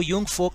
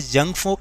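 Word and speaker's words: Jungvolk: यहाँ पर ये स्पेलिंग कुछ और है, जंग फोक लिखा है, जंग वोक लिखा है, लेकिन इसको हम पढ़ेंगे यूंग फोक। यूंग फोक क्योंकि ये जर्मन वर्ड है इसलिए हम इसको ऐसे ही प्रोनाउंस करते हैं।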